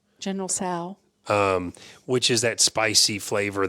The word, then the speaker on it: Tso: General Sal's, General Tso.